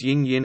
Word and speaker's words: 陰: The modern standard Chinese pronunciation of yin or yin is usually level first tone yin, shady, cloudy, or sometimes falling fourth tone yin to shelter, shade, and yang or yang, sunny, is always pronounced with rising second tone yang.